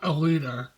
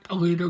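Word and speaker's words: Alita: you should see this I'm gonna say it correctly battle angel Aleta it's not a leader battle angel Hollywood you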